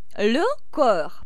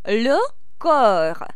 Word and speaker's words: le corps: Le corps. PS не считается, и мы произносим le corps, le corps.